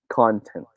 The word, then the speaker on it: content: should be pronounced as content all right content union time on pronunciation the stress is in the first syllable okay now right it